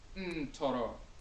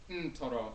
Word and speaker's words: Ntoro: So NTR is not neter, and Akhan is pronounced Ntoro. The N is nasal. Ntoro, N-T-O-R-O.